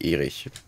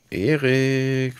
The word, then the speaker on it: Erik: So wie es geschrieben ist, spricht man es vermutlich Erik aus. Erik. Nicht Erich. Erik.